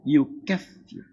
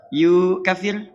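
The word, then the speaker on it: يكفر: Allah tidak katakan fayukir, tapi Allah katakan yukfir. Yukir awas lihat cara bacanya. Yukir cepat. Awas jangan salah. Yu kafir salah gitu kan keliru.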